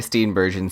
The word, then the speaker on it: Steenburgen: how to pronounce Mary steenbergen 16c YouTube video they say a hard G so Steen Bergen Steen Bergen and Harry Dean Stanton